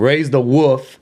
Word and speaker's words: Raise the Woof: Raise the Woof.